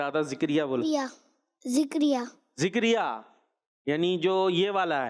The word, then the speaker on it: زکریا: زا زبر زا، کاف زبر کا، زکا، را یا زیر ری، زکری، یا الف زبر یا، زکریا.